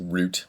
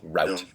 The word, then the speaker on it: route: Root. No, no, no. Route. Root is spelled r o o t.